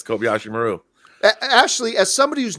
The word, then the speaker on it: Kobayashi Maru: the what was it what was always mispronounced that was the Kobayashi Maru right yeah that's right that was the exercise yeah did I say it right yeah yes Kobayashi Maru actually as somebody who's